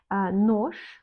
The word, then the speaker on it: нож: Нож, un couteau, нож, on écrit нож, mais on ne prononce pas comme нож, on prononce comme нож.